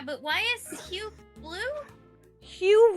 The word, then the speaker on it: Hugh: Hugh rhymes with blue.